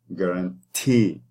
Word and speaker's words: guarantee: So, for example, like when you have the word guarantee. So guarantee, that is the last syllable has the stress. Guarantee.